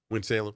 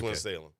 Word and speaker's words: Winston-Salem: It's basically 2 syllables somehow, but 3 but it's a bunch of syllables. Yeah. But we have to melt them. We have to melt them all together.